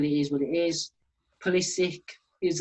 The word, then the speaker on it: Pulisic: Pulisic is how you say his name.